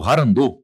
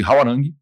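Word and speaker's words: 화랑: grupo de elite chamado harand ou Alguns falam de hwarang né a gente encontra as duas pronúncias né tanto de povos coreanos como brasileiros então eu chamo de hwarang hwarang era er uma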